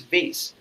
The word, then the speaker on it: vase: this pedantic attitude and she said no it's not vas it's vase okay and then I was just sitting out there I was just observing everything and then I realized no there are two pronunciation of the same word it's vas and vase both are correct right so there are